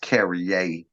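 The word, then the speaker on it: Carriere: Little town that ain't on most maps, Carrier, Mississippi. I'm sorry, I'm country. It's actually pronounced Carrier, Mississippi, but it's Mississippi, so Carrier.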